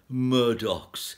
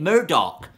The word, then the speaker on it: Murdoch: in 1782 Matthew Boulton wrote we want more Murdock's for of all others he is the most